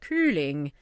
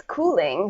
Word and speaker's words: Coeling: person would pronounce it I totally want to make it German and be like curling well it's cooling so yeah okay it's dutch and it's cooling yeah pretty good yeah